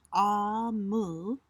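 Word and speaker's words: Omu: to the reader um ooh pronounced ah move is the ekabo term for Queen and sometimes grandma or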